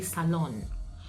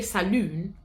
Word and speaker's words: salon: But here, you have to say salon. Because if you say saloon, someone thinks, they'll think about something else, but you have to say salon.